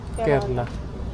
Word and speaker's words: Kerala: Kerla. Kerla. Kerala yung ano. Kerla yung pronunciation nila.